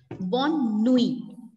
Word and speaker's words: bonne nuit: It's bonne nuit. Bonne nuit. Nuit. Bonne nuit. Bonjour, bonsoir. Ma'am, Yes? is T silent? Yes, very good. Very good observation, beta. T is silent.